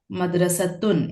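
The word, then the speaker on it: مدرسة: The next word is madrasa. Madrasun is the right way to pronounce it because it means a school.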